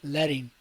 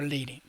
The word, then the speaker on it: leading: called letting here okay letting or leading depending how you want to pronounce it and i can just